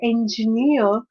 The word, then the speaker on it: engineer: and when we say the word engineer so the stress is on the third syllable and especially no